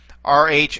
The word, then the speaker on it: rho: row rho o and it has a r sound to it and when it begins a word as we're going to see in a moment it has more of a kind of a guttural sound to it like like that almost like saying the r from the back of your throat all right that's the row